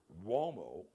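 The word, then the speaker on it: Umo: Womo. Womo is spelled U M O. It's an Italian surname.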